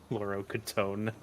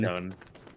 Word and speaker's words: Fluoroketone: Fluorocatone. I don't even know how to pronounce it, dude. The ketamine. Fluoroketone.